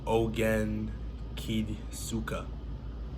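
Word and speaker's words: お元気ですか: And then in Japanese, how are you is, bear with me here, Ogen Kidsuka. So that's spelled OGENKIDESUKA, and that's Ogen Kidsuka.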